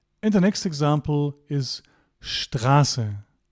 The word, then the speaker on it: Straße: So, take away here, ST at the beginning of a word will be sht, like here, Stephanie and Straße.